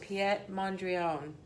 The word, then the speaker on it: Piet Mondrian: we're going to do and actually pronounce it piet mondrion so we're going to